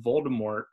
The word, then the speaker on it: Voldemort: somewhere one time that Voldemort was originally intended to have a silent T at the end yes kind of almost French sounding pronunciation yes so every time